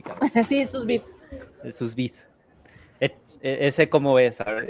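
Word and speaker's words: sous vide: Lo vas a pronunciar. Es esto del de la cocción a al vacío. Al susbit.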